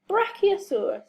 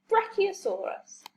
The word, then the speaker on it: Brachiosaurus: Brachiosaurus. Say brach, E-O-saur-us. Brachiosaurus.